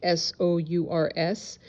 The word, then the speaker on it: Sours: Maureen participated in the case against Natalie Mayflower Sours, spelled S-O-U-R-S. Maybe it's pronounced Sours, but I'm pronouncing it Sours.